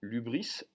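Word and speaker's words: ὕβρις: Autrement dit, le raisonnable ou le caractère de l'homme raisonnable s'oppose à la démesure que les Grecs appelaient l'hubris, H-Y-B-R-I-S. Le Y se prononce U en grec.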